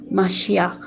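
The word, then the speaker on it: משיח: quiere decir Mesías, y en hebreo que se pronuncia Mashiach, que esto significa ungido, que es Salvador, libertador de la humanidad.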